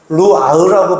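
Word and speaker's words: רוח: 그래서 성령이라고 하는 것은 히브리어로 루아흐라고 발음을 하는데, 이건 영이고, 그 영이라고도 해석하지만 또 다른 말로는 따라합시다.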